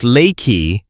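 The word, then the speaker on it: Leakey: Pronounced lakey, this town of around 400 residents captures everything people dream of when they think of peaceful Texas mountain life.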